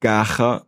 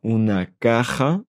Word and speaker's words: caja: C'est tout un processus pour apprendre des nouvelles prononciations. Caja, una caja, un coffre.